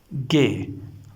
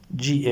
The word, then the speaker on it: G: Gay like this we pronounce it. Okay. G A Y. Gay. This is not G. This is gay.